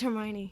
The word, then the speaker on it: Hermione: Is it Hermione? It's Hermione.